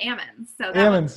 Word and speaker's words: almonds: that's what they call it's a silent l just like the salmon you know salmon's got it they shake the l